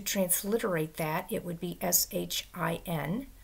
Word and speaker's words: Shin: Now, this letter, if there's a dot above it over here, it's pronounced with a sh sound. And if the dot is over here, it's pronounced with a s sound. So our English, if it's over here, would be sh, sh, and over here without the h, s.